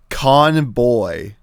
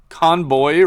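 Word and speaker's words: コンボイ: Conboy. Conboy. Really? It's like a B sound. Yeah, B. They they don't have V in uh Japanese does not have a V sound. The closest they have is B.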